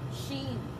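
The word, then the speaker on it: SHEIN: She. S-H, like Shaw. You know how my name starts with Shaw. But it's S-H-E-I-N, like the word she, and then I-N, she.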